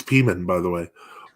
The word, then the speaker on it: Pimen: It's Uh, a Russian, pronounces vowels kind of like Spanish. So like the I is an E, it's kind of, yeah, it's the same kind of system there.